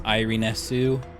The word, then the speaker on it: Irenes: So I guess her name is Iriness, because in Japan it's Irinesu, but they dropped off the U at the end, so Iriness, Irenes, something like that.